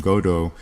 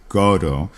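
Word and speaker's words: Godot: Uh, interestingly they pronounce the name Godo Got T with an accent on the first syllable waiting for Godo, you know, like with an emphasis on God as opposed to perhaps a more franophhone pronunciation.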